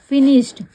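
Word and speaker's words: finished: क्या हो गया फिनिश्ड वैसे आपको इसको श फिनी सट नहीं पढ़ना है इसको क्या पढ़ना है श पढ़ना है तो अगर आप ऐसे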